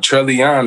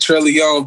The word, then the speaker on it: Trellion: It's all, I always pronounced it Trellion, but it's funny, like, everybody, like, say Trellion. I'm like, damn, I wish I started off pronouncing it like that.